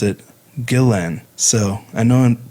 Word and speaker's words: Guillén: with the two L's but Vanessa's sister Myra pronounced it Gillen so I know and pronunciation is important to